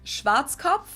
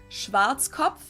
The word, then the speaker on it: Schwarzkopf: In German, we pronounce it Schwarzkopf, which literally means black head. Schwarzkopf.